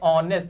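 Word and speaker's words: honest: अब यहां पे अंजलि इज ए ऑनेस्ट। यहां पे एच क्या होता है? साइलेंट होता है।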